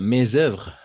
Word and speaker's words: mes œuvres: Comme se pronuncia mes œuvres, ¿qué es eso? Ah, mes œuvres.